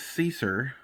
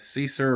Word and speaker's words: Seasir: at the I think the pronunciation of this is Cesar s-e-a-s-i-r that's something I can think of see sir original fishing all right